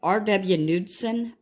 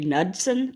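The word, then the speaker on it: Knudsen: try to say it RW nudson I would say that the K is silent it might be nudson but I'm going to say nudson so it does expire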